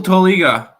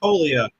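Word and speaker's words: Toglia: We go to the minor league stadium, Nick, where Michael Toliga Toia Toia will hit a home run for the Colorado Rockies. Tolia with a silent G.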